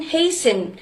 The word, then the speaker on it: hasten: No tea is heard in fasten, hasten, which make them rhyme with arson, mason.